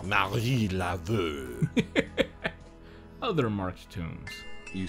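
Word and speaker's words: Marie Laveau: Oh, he said it wrong. It's Marie Laveux.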